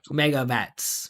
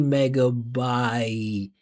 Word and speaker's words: megabytes: megabytes meabats meabats so this is a diff thong. So what he needs again desperately is to continue the energy of his voice so that he can go from the beginning to the end of this sound because diff thongs have two positions.